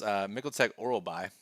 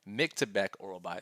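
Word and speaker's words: Myktybek Orolbai: Yeah, Elvis Brenner against Mikkeltek Oralbai. I think I butchered his name. Miktebek Oralbai. There we go.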